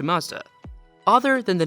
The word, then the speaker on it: Mazda: Mazda was also a perfect way to pay respect to the founder of the company, Matsuda, which is pronounced very close to Mazda.